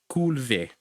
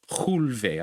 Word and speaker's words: culve: Culve. Or chulve, I should say. Because at the beginning, if you see it, that C, it's being pronounced ch.